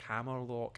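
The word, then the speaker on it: Hammerlocke: and eternal eternal um does anyone else say hammerlock in a Scottish accent I often do yes I don't know if I have I feel like I have in this gym like Hammer look I don't know but I often do yes because it's kind of like the north of the country like hammerlock ah welcome to hammer look that's great um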